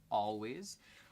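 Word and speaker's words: Alvvays: believe by Canadian band always spelt with two V's but pronounced always I think they blew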